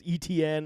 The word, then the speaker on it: Etienne: And if Etienne, I know everyone's cussing me down for how I pronounce Etienne. It's ETN. I say Etienne. Same difference.